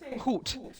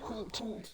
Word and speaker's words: Ruth: Like they kept saying Hoot. Like some woman's name was Hoot. And I'm like, what is that? What is this name? That is Ruth in German. Hoot. I know I'm not saying it right.